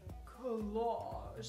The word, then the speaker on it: collage: That's right, today we are making a collage. And I kind of feel like I have to say it like that because did you know the word collage is a French word?